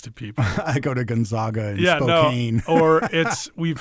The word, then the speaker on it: Gonzaga: But like the name, like as an actual like family name, would actually be pronounced Gonzaga, like often.